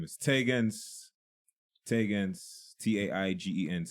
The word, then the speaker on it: Taigenz: like to introduce yourself yes my name is taegons taegons ta IgE and said the trick about my name is that you pronounce it once you will never forget I